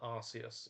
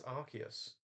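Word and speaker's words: Arceus: amount people I see call it arus I'm like there's no s in it it's archus arus is funny Aus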